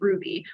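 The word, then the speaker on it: Rouxbe: LinkedIn Learning, Masterclass, and what is I've learned pronounced as Ruby, which is essentially an online culinary school.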